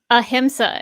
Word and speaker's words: ahimsa: all right time is up how do you pronounce that ahimsa is how they pronounce uh i was that